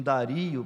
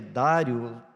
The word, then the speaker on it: Dario: até o rei Dario alguns pronunciam Dario para mim parece que é Dário não sei que é